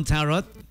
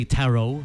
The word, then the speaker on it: Tarot: Cinema 1 Tarot, or some say Tarot, silent T daw.